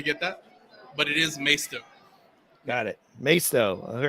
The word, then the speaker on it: Maisto: of the show asks what is the proper pronunciation of Maisto I'll take this one over it's myosto some people say masito I don't know how they get that but it is maesto got it maesto all right Andrew so uh